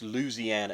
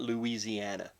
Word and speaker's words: Louisiana: It's Louisiana. It's not Louisiana. And it is. You sound like a damn Yankee when you say it like that.